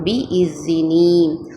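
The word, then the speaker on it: بِإِذْنِ: பி இஸினி, பி இஸினி, தால் வந்து கரெக்டாக உச்சரிக்கணும். பி இஸினி.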